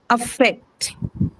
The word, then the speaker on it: affect: affect can be a verb, and hence it's going to be stressed on second syllable. Second syllable also because affect has the first sound in affect is what is the shwa. Obviously won't take any stress. That is also a reason why the second one would be stressed.